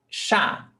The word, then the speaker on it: chá: Chá. Chá. We've got CH, but 1 sound. Sh. Sh. Chá.